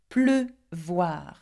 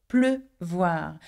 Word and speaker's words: pleuvoir: And we keep the sound E because in pleuvoir it has two syllables, one which is closed up, pleu, and voir, the